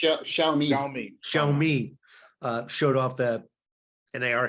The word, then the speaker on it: Xiaomi: How do you pronounce it? Xiaomi.